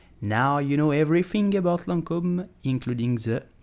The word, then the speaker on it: Lancôme: So how do you pronounce it? You will simply say Lancôme. Lancôme. Lancôme. Lancôme.